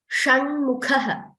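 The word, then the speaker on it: षण्मुखः: Shanmukhaha, it is again similar.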